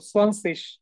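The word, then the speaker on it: zwanzig: দেখেন এখানে যে যে উচ্চারণটা সেটা অনেকটা তালব্যস্বরের মতো হয়ে যাচ্ছে, আই জি একসাথে থাকার কারণে তালব্যস্বরের মতো সোয়ানসিস।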